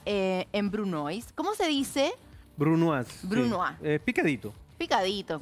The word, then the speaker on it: brunoise: Brunoise.